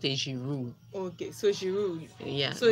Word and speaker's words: Giroud: We shouldn't pronounce the last word in the last Isha letter. Olivier Giroud, just pronounce it. It should be Giroud.